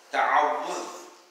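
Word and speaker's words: تعوذ: So you should learn to say it correctly, ta'awudh. That from the two tips, two letters in between two letters, two teeth, ta'awudh.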